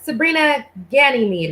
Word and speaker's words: Sabrina Ganymeade: and let it out okay um so uh sabrina ganymede right that's what i did i pronounced it right yeah yeah it's um it's